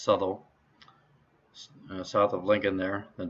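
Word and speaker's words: Southwell: lincoln then suttle or it says looks like south well but it's pronounced subtle south of lincoln there then peterborough denise to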